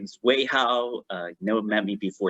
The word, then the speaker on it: Wei Hao: My name is Wei Hao. You never met me before. It's the way how you say it.